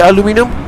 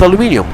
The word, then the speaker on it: aluminium: How do you say aluminum? Aluminum. Okay, it's not aluminium. It depends whether you're British or American. So you said it in an American way.